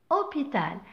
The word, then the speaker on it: hôpital: C'est un hôpital. Un hôpital. J'ai fait la liaison? Oui ou non? Donc oui, j'ai fait la liaison. Ce qui montre que le H de hôpital est un H muet.